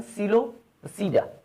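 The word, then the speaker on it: Psilopsida: That is known as सीलोपसीडा। सीलोसीडा, इसमें ये P silent है, आपने इसको कैसे पढ़ना है, सीलोसीडा।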